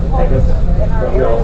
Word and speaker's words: Pecos: So if you go, or actually, by the way, it's actually pronounced Pecos, but we all say Pecos.